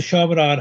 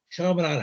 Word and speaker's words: Chaminade: So he went to Chaminade High School, which is in Pennsylvania. I'm sorry, it's actually Chaminade High School, which is actually in St.